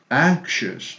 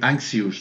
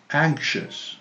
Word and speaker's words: anxious: neighbor no neighbor neighbor and this i o u s which the three letters are pronounced like sha this is a very difficult one sometimes but you have to do it just with one sound anxious don't say anxious no anxious anxious or cautious or visous vicious okay vicious so um uh this is